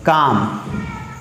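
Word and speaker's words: calm: हैं कि please be काम। काम का मतलब होता है, यहाँ पे एल साइलेंट है, इसका प्रोनाउंसिएशन हमें यहाँ पे इसको प्रोनाउंस नहीं करना है।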